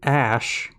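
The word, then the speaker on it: Æ: it x and then ash and then a12 he says the ae is pronounced ash he said the a12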